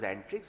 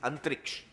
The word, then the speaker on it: Antrix: agreement between and tricks which we Now Pronounce as antrix but actually is antriksh as in space but everybody even the gentleman the CMD of antrix says and trick so we're saying Antics